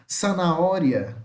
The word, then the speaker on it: zanahoria: Cenoura, a tradução fica como zanahoria, zanahoria, zanahoria, tá? Zanahoria, de cenoura, tá? A letra Z, o Z, tá? Em espanhol, tem som de S, tá? Som de S. Som de S, tá legal?